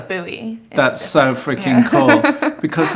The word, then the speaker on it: Bowie: Yeah, and I grew up in a suburb called Bowie, Maryland. It's Wicked. spelled like David Bowie. Even better. But it's Bowie.